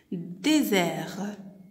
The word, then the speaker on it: désert: Comme on a dit, la lettre S, lorsqu'elle est placée entre deux voyelles, je prononce Z, comme dans le mot désert.